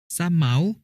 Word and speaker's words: สะเหมา: เที่ยว วนอุทยาน กับ ครอบครัว สะเหมา อ่าน ว่า สะ เหมา หมาย ถึง ยาก ประโยค